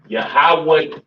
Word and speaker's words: Yahawah: all right yeah soak it is not pronounced yahwah do excuse me yahwah yah yahwah yah yahawah yah that is the